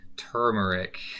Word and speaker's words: turmeric: Then we got curcumin and turmeric, or I usually say it wrong, actually. It's turmeric.